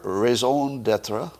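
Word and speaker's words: raison d'être: the mississippi she just broke down their entire raison d'etre that's my french pronunciation there in like 10 minutes and then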